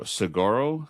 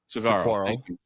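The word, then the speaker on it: Saguaro: Um, do you pronounce this? S A G U A R. Sigoro cactus. Sigoro. Cigaro.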